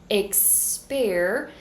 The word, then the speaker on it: experience: To pronounce experience, you're going to start with this I as in você sound, go straight to the k sound, êks. For the second syllable, you're going to say pair. So again, I have this I sound, pe, and then you're going to bring your tongue back for the American R, pair, êks-pêr-ee-âns. Third syllable, you're going to do an êks-pêr-ee.